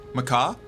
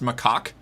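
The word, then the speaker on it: macaque: Is Do you not Is it pron is the monkey pronounced macak? I figured that it was one of those like silent endings things. What should I just say? Mac. Would that would that satisfy your Would that one be a better uh pronunciation? These Mac monkeys. Macak is what I've always heard.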